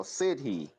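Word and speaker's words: sídhe: Oh, Siddhi. That's how it's pronounced.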